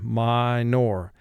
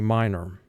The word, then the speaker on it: minor: Now that's the spelling pronunciation, minor, but in conversation we say minor.